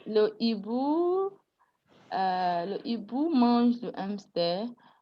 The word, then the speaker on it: hibou: Le hibou mange le hamster. No, is the H is aspirated, so it doesn't accept contractions.